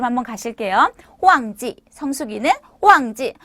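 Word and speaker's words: 旺季: 자, 성수기 발음 한번 가실게요. 호황지, 성수기는 호황지.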